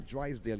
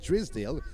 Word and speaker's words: Drysdale: For the Queen's School, Leanne Drisdale, I called her Drysdale yesterday, but it's actually pronounced Drisdale, although it's spelled Drysdale, but it's Drisdale Leanne, wears number 5 jersey.